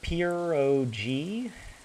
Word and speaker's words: pierogi: It's pronounced pierogi.